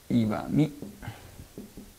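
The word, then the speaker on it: 石見: はい、石見って読んじゃダメですよ、岩見です。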